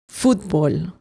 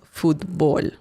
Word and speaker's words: fútbol: Sometimes fútbol has an accent on the letter U and the pronunciation changes a bit. You say it like this, fútbol. But without the accent mark, it's pronounced fútbol.